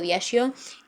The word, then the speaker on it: Diageo: Hoy en día se comercializa a través de Diageo o Diageo, yo lo pronuncio Diageo, y su actual presidente me da mucha ternura porque también se llama Facundo Bacardí.